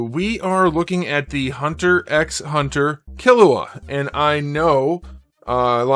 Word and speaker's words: Hunter x Hunter: of the show, and it has been confirmed that you do pronounce the X.